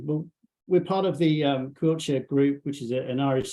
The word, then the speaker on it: Coillte: And Quiltshire itself is spelled COILLTE, but it's pronounced Quiltshire, which is it's like the quill of a pen, but with a ch at the end. So, you know, as a